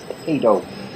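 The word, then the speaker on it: paedo: at the B by correctly pronouncing the word pedo like Pediatrics not pediatric it's p a e not p d okay and R the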